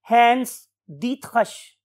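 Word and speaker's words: Hans Driesch: diet रिश right लेकिन जब हमने इसको जर्मन लैंग्वेज में प्रोनाउंस करना सीखा तो हमें पता चला कि his name is हेंस दत हश हेंस दत हश right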